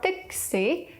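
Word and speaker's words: 的士: When adapting words from English, Cantonese actually prefers just to find characters that sound like the English equivalent, like pa-si for bus or tik-si for taxi.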